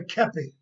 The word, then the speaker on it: kepi: The hat that I'm wearing is called a kepi. It's pronounced, it's spelled Kepi. It's a French word that means cap.